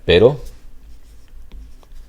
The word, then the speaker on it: pero: But notice that if I were to spell it with a double R, the double R, this would be a trill. So this would be a trill, this would be a flap.